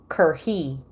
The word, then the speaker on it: Kerhet: Okay, so the T is silent. It's Kerhi.